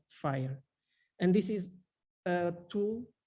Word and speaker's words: FHIR: It's pronounced FHIR, not fair or fire or fear or whatever.